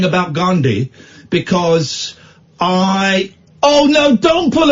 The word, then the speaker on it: Gandhi: I'm holding back on what I'm saying about Gandhi because Oh no, don't pull a face because I pronounced it properly.